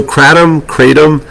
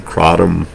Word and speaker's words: Kratom: So Kratom, and both ways are pronounced, are correct pronunciations. I've had a few comments about that, and I found reference to say, no, it's both. Kratom, you name it, it's correct.